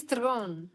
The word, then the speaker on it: Theron: Charlize Theron. I'm going to be so happy. You see, you have to say it right, eh? Theron. Throne.